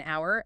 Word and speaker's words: hour: The best examples they use are an hour and a university. Those are perfect. Hour starts with the letter H, a consonant, but the H is silent.